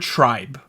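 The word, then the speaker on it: TRI.BE: It okay, so it looks like the word tribe, right? Right. But you pronounce it tri-B or something like that. Tri-B is the Korean way to pronounce it.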